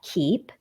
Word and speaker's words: Keepe: Liz Li Zi at keep ke e PE dot-com and and they can check keep out at Keep Calm and it's keep with a silent e at the end yes calm right yeah